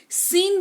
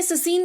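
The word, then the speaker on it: scene: यानी कि विज्ञान या कौशल जो कह लीजिए सीन बोलते हैं ससीन नहीं बोलते हैं एस सी ई एन ई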